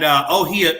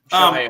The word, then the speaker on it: Shohei: And the two I'm talking about is Ichiro Suzuka and Oshie Ohtani. Shohei Ohtani. Thank you. I appreciate the correction.